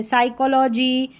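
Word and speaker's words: psychology: तो यहां पर साई करके पी एस वाई को साई करके पढ़ा जा रहा है।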